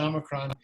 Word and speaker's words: omicron: Yeah, Nancy is coming across with a little bit of modern Greek pronunciation with the Omicron, which is fine. I say Omicron.